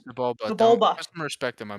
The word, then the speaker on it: Sebulba: Seblaba? Is that how you say that? Sebulba.